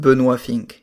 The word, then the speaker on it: Benoit Finck: and tell us who you are so I'm benink it's pronounced benink in French um and I am an fpv